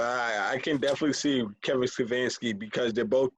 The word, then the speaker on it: Stefanski: That would be Kevin Stefanski. Stefanski, yes. Stefanski. I knew it's something pronounced.